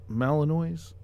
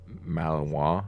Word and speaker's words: Malinois: I think it's pronounced Malinois. It's French. Malinois.